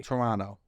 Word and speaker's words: Toronto: crying correcting me like don't pronounce the second T oh really Toronto already annoying um